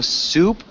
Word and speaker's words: soup: Okay, so soup is soup. The food. It sounds like that, soup. And then soap, Soup. it sounds like so. I guess it's got a long O. Soap.